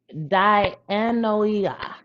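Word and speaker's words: dianoia: So the Greek word for mind is danoia. Diana. It's spelled like d i a n o i n o i a.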